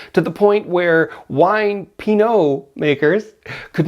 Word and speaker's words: pinot: And because the character of Miles also likes pinoa, pinoa, pino, pino, p i n o t.